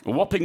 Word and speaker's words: whopping: the first expression whopping whopping with a silent h w h o PP